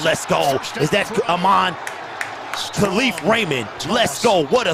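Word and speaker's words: Kalif: He signed a new contract, so he went to the PR staff and said, hey, by the way, it's not pronounced Khalif, it's Khalif.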